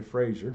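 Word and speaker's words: Fraser: was three Indians that according to Frazer rhymes with laser they were both Indian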